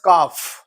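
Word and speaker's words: calf: the example very easy the word इ काफ सी ए एल एफ जिसमें L silent है इसको पढ़ते हैं काफ ओके एंड काफ को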